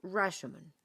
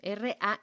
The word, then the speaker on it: Rashomon: A esto, señoras y señores con E, con A, con B y con C, se le llama efecto Rashomon.